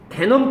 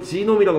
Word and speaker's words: genome: 이게 지금 바뀌는 그때에 게놈 프로젝트 영어식으로는 지놈이라고 발음합니다만 게놈 프로젝트라고 하는 것이 완성이 되고 있던 때에 처음으로 초안이 나왔을 때 One of the great surprise 되게 놀랐나봐요.